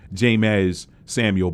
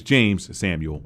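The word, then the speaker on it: Jeymes Samuel: in the pre-review y'all I called him jamez Samuel but it's James Samuel I I guess I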